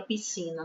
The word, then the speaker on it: piscina: Porque a gente mal escuta a letra S na palavra piscina.